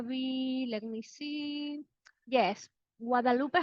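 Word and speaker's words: Guadeloupe: Yes, Guadalupe, how do you say that?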